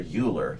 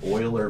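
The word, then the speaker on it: Euler: you look at an Oiler Beam by the way if you're into German that's pronounced Oiler like uh lanard Oilers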